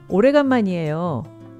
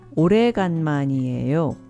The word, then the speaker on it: 오래간만이에요: Remember, with words that are more difficult to pronounce, it's often good to work your way from the back.